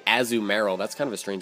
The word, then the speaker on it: Azumarill: gengar as zoom i was about to say azumarill that's kind of a strange way to pronounce it azumuro uh dragonite and venusaur um i don't know